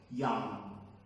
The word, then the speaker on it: young: That word, I hope you didn't pronounce it as young or young. No, the g is not sound, it's just and OU is not O, it's young.